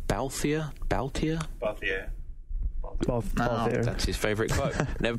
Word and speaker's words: Balthier: How do you pronounce this guy's name? Balthier.